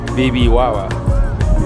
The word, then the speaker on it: Bibijagua: Bibijagua, así se pronuncia.